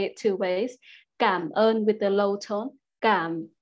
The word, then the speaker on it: cảm ơn: Cảm ơn with the low tone. Cảm ơn, similar to come on. And you can also say with a higher tone, like cảm ơn, cảm ơn.